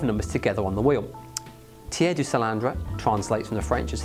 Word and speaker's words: tiers du cylindre: The most popular of them, the best known of them, is called the tiers du cylindre, often mispronounced but not by me.